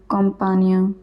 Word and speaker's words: campagne: GN is always pronounced as nya. For example, montagne, campagne, champagne, champignon, etc.